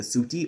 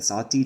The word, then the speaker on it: sati: The word used for this in Hindi is the suti or the sati, depending on pronunciation or dialect, and it means both good wife and bond wife.